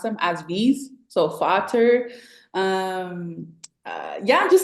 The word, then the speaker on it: Vater: because they're F's over there, they pronounce them as V's. So Vater, um, yeah, just like some words I was able to catch on.